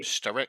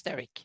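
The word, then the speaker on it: Sterich: So in all those list of kings where you see the CH, that is a K Steric. Okay. sound. So it's Steric.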